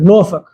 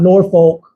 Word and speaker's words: Norfolk: these words they're funky just like norol not Norfolk is pronounced norol right that us a